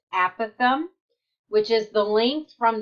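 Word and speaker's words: apothem: stands for the a Pithom and it is pronounced a Pithom which is the length from the center of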